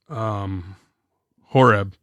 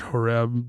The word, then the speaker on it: Horeb: That's why it's desert, Horeb, desert. I think it's actually pronounced Korev in Hebrew.